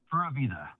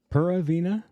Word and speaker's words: Pura Vida: So how was that pronounced again? Pura Vida. Pura Vida?